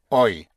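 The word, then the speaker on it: hoy: You remember today is oi.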